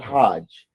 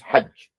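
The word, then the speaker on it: حج: It's not hajj. It's hajj.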